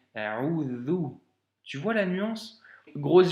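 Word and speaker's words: أعوذ: Ici, c'est un vel et donc c'est A'udhu.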